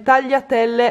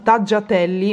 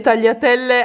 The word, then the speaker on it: tagliatelle: poi ho preso le tagliatelle all'uovo ragazzi che qui pronunciano taggia telli mi fa morire la pronuncia che hanno qua ho cercato di spiegare